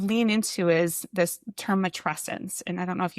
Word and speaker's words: matrescence: So matrescence, it rhymes with adolescence.